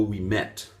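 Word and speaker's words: Ouimet: earth it is a guy named Bo we met and that's spelled o UI m e t t it's French probably French Canadian but he lives like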